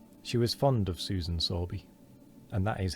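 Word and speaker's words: Sowerby: She was fond of Susan Sorby, and that is how you say that word.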